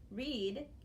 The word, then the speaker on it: read: The best example I know for this one is the word read. Read is spelled R-E-A-D, but if you want to tell somebody that yesterday you were reading a book, you would say, I read a book yesterday. Okay, so EA is E or eh.